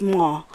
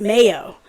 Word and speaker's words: Mao: My government name is, well, actually, in Hmong is Ma. And when I came to America, it was spelled M-A-O. So, you know, the Americans pronounced it Mayo.